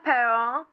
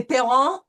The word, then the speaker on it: parents: Now, first of all, we know that we have a French R in here, right?